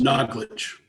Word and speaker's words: Naglish: Can you pronounce that for me? Naglish? Is it Naglish? Naglish. Naglish.